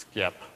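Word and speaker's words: SXIP: So over at skip, which obviously is pronounced skip um and stands for the simple extensible identity protocol, we have sort of two message formats.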